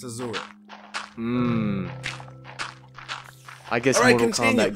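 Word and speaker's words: Asura: Did they really pronounce it like Azura? Azura. It's not Ashura. It's Azura. In English, for Europeans, it's Azura.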